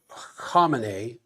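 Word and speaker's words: Khamenei: June 26 by Iran Supreme Leader uh Ali Kam. apparently is the correct pronunciation betrays how volatile this situation and therefore how great the danger of warfare still is.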